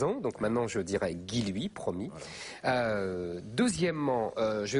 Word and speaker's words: Guilluy: à alors d'abord je suis désolé d'avoir mal prononcé votre nom pendant 2 ans donc maintenant je dirais guiloui promis euh deuxièmement je vais vous faire tout